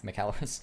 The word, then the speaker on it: Michalowicz: McAllowitz.